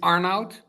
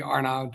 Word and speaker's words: Arnout: So, um, it's Arnout, which is Dutch, which is an absolute nightmare. I I've asked my my parents why why give me the name Arnout? because it's very hard to pronounce if you're international, but just call me Arnold or not or whatever um comes to mind.